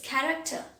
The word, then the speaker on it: character: The next word is character. That boy's character is very good. CH is pronounced as k here.